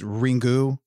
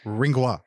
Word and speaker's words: Ringu: i've heard it pronounced ringu or ringwa like a rinwa you know like a schwa sound with that u so so even that's